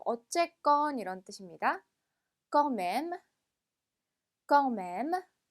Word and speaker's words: quand même: quand même, quand même. 자, 이 단어 같은 경우 이 m의가 마지막 끝까지 발음이 돼요. 그래서 껑맴이 끝나는 게 아니라 껑맴무까지 발음해 주셔야 되고요.